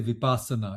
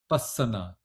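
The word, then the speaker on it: vipassana: They say vipasana. It is not vipasana. It is vasana which is in pali.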